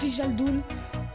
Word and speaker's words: Wijnaldum: Ça se prononce Wijnaldum, un peu bizarre.